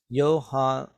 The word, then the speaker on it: Johann: Now, in my memory, in German, J sounds like a Y. So that's why I said Johann instead of Johann.